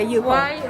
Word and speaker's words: Yupo: Yeah, so that's how do you pronounce it? Yupo? Yeah, Yupo.